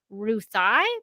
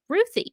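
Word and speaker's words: Ruthye: and tom king said she's named after my three-year-old niece ruthie so that's how i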